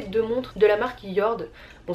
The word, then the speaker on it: Jord: Donc niveau accessoires, j'ai reçu ces deux montres de la marque Yord. Bon, ça s'écrit Jord J O R D mais ça se prononce Yord.